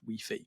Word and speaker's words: Wi-Fi: It's I think across a lot of Europe, it's kind of pronounced, you know, the I is pronounced as kind of like an E sound. So, it's wei.